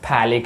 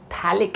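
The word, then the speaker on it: phthalic: हैं, प्रोनाउंस करो आप, कुछ लोग ऐसे प्रोनाउंस करें, थैलिक acid, it's थैलिक acid, okay, PH silent है, थैलिक एसिड।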